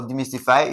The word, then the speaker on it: demystify: Okay, now for demystify, if you should open this guy, we have D my sti fy. Again, we have one, two and three. So, M Y will be stressed.